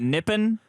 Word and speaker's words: Nihon: by the way okay it used to be n-i-p-p-o-n but I think they've changed it to Nihon it's always been Nihon Mexico nihan is the